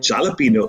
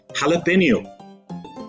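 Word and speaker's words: jalapeño: It's not jalapeno, it's jalapeno.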